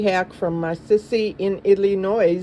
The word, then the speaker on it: Illinois: from my sissy in Illinois. The S is silent, so that was intentional.